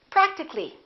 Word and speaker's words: practically: we don't say practically we drop the A and we say practically physical how would we